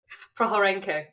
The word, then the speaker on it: Prokhorenko: I just realized, how do you pronounce it? Prokhorenko. It's Ukrainian. Prokhorenko.